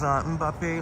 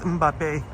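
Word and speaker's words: Mbappé: 21st century says Mbappe like frappe. Yeah, pronounced Mbappe.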